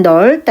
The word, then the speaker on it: 넓다: 그래서 넓다. 얘는 넓다. 이렇게 발음되죠. 비읍은 발음되지 않아요. 탈락돼요.